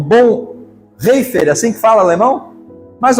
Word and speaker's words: Bonhoeffer: E eu termino essas citações com um pensador alemão, o Bonhoeffer, assim que fala alemão? Mais ou menos, essa pronúncia, o ano 1900.